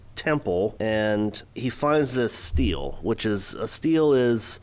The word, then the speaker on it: stele: I guess you pronounce it as stele, but it's S-T-E-L-E.